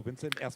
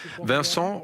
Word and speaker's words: Vincent: Well, actually, it's Vincent, but I played for Hamburg for 2 years, and it never worked out. It's hard to pronounce correctly for the Germans, so Vincent or Vinny, that's fine.